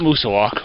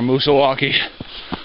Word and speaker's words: Moosilauke: loose I mean mount Musa walk or Musa walkie depending on the way you pronounce it the dominant peak of